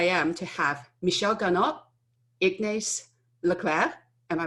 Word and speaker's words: Ignace Lecleir: I can't tell you so how excited I am to have Michelle Garnaut, Ignace Lecleir. Am I pronouncing it correctly?